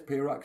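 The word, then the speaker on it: Pahroc: p a h r o c that's how it's spelled if I remember right there it is pay Rock Summit oh the the Patrick list on that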